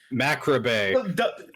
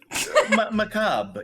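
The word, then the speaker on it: macabre: I'm like the subject matter seems rather macrobe macab.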